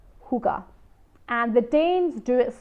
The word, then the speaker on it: hygge: you want to look more into who got it's spelled H Y GG e hookah and the Danes do it so well because